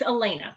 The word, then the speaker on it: Elena: got some here from I could be mispronouncing your name oh I'm sorry it's it's Elena okay I was reading